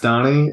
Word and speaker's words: Dani: so you know my name is spell Dan actually pronounced Donnie and uh I've been